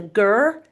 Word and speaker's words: ger: Um yurt is the Turkish name and Russian name and Mongolian name is ger and they translate into the same thing which means home. So, yes, it's a ger camp or a yurt camp and um we choose this particular one for its location.